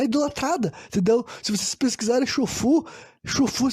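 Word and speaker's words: Xu Fu: Se vocês pesquisarem Chufu se escreve assim, X-U espaço F-U.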